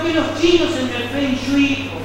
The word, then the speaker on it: Feng Shui: Lo que los chinos en el Feng Shui Onshuei, como habría que pronunciar correctamente, llamaban las venas del dragón.